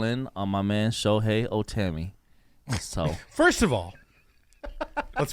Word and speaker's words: Ohtani: and go all in on my man Shohei Ohtani. So, first of all, let's pronounce his name right.